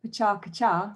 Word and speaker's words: PechaKucha: and it was called i should say it properly pachaka cha which is how you more or less say it in japanese and um it means